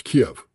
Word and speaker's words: Kiev: Uh, if you say Kyiv, you're speaking with a Ukrainian point of view. It's Kiev. It's always been Kiev.